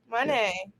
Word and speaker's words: Moné: you listening, that was just Jaychele just showed her T-shirt, which is featuring Mercedes Moné. Moné is correct, right? Moné. Yeah. Money. Yeah. It helps if you say it like the song.